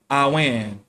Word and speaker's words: amhan: Another Celtic name for river is amhan, pronounced awen.